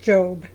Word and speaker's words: Job: It's pronounced Job.